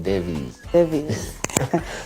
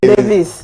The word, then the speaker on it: Davies: a v i e s okay so it's pronounced deis not Davis no Davis is the one with just the